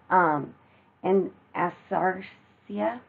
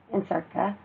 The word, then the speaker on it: anasarca: throughout the body, which we call an asarcia, I think is how we pronounce it, Ansarca, and that's ANASARCA.